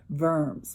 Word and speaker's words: Worms: was called worms and we usually pronounce it verms more like a v well at this diet